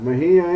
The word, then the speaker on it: Mejía: Bueno, Mejía es con acento en la I, ¿verdad? Mejía.